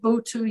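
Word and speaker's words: Botho: When is the word Buthu used? Am I saying it right? Yes, you're pronouncing it very well. I've learned something. Buthu is used quite a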